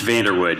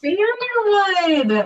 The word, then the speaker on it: Vanderwood: Yeah, it's Vanderwood. You were really close. Vanderwood.